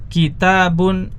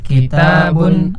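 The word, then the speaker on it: كِتَابٌ: kita sudah tahu kaidahnya ketika tanpa alif lam dibaca tanwin ketika dengan alif lam dibaca tanpa tan tan tan Erwin Ya silahkan disimak kemudian diikuti ya baitun albaitu baitun albaitu kitabun Alkitab kitabun Alkitab qolamun alqolamu qolamun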